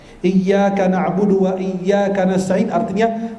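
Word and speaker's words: إياك: Iyyaka na'budu, iyyaka ditekankan, kalau tidak ditajdid syaddah tidak ditekankan artinya berubah. Iyyaka na'budu wa iyyaka nasta'in artinya hanya kepadamu kami menyembah dan hanya kepadamu kami mohon pertolongan.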